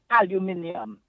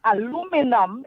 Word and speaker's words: aluminium: Now, take the word aluminium. That's how the English say it. Right? But aluminum is how the Americans say it.